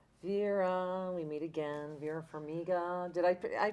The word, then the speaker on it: Vera Farmiga: Vera Farmiga. Did I pronounce that right?